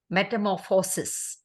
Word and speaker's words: metamorphosis: The pronunciation that could have been better was metamorphosis. Enunciation has to be done properly in 5 syllables.